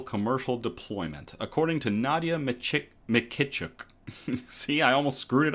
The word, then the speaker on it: Mykytchuk: Mykytchuk. Mykytchuk. Mykytchuk. Mykytchuk. All right. Canada has yet to achieve full-scale commercial deployment, according to Nadia Mykytchuk.